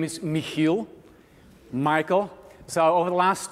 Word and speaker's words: Michiel: So, to say it correctly, my name is Michiel.